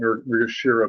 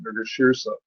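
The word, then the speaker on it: Mrigashirsha: Mrigashirsa actually has a I used to always call it Mrigashira, but there's an S in it. Mrigashirsa.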